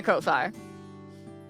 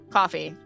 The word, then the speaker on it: Ko-fi: Get out of my Ko-fi. Kofi. Coffee. Someday I'll actually pronounce that right the first time.